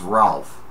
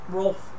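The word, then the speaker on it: Rowlf: Probably the first one that I ever saw was Ralph. Am I saying it right? Rolf. R-O-L? No, R-O-W-L-F. Okay, Rolf.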